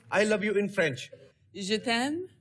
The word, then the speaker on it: Je t'aime: How will we pronounce I love you in French? Je t'aime. Je t'aime.